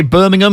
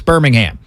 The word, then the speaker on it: Birmingham: called project birmingham birmingham i was gonna say birmingham because my family's from birmingham in england so that's how i was going to pronounce it but i got to remember it's birmingham so this is project birmingham